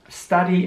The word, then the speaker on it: study: Hier wird das U jetzt wieder mal wie ein A ausgesprochen. Also nicht wie bei student, komischerweise, sondern study.